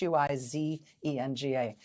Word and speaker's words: Huizenga: In Western Michigan, Republican Congressman Bill Huizenga, I think that's how you say his name. It's Huizenga, Huizenga.